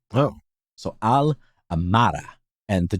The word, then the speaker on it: Amarja: And she said that in Amarja, it should land in the second, the emphasis in the word should land on the second A in the mar. Oh. So Amarja.